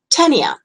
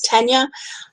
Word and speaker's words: Tania: I'll so gently say actually it's tenure but you know won't